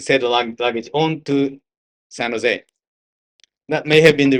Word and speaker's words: San Jose: San Jose is, by the way, it's a Spanish name. San Jose. It should be pronounced San Jose.